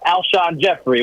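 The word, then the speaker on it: Alshon Jeffery: A lot of Philadelphians pronounced this wrong and add an S to it in the past, but Alshon Jeffrey would be one.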